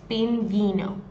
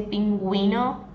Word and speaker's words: pingüino: So the only thing is that when you put the U with two dots, you're going to pronounce the U. If you don't have the two dots over the U in this case, it would sound like this, pinguino. And I want to say pinguino.